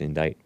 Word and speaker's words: indict: It's spelled indict, but it's pronounced indict.